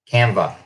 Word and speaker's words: Canva: My wife is the one that told me about Canva. She was complaining to me last night because I didn't say it right. It's Canva.